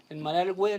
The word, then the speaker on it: Malargüe: Federico, sí, estamos en Malargüe, le decimos nosotros, que es como se pronuncia en lengua mapuche más tradicional, que es el lugar de los castillos de piedra.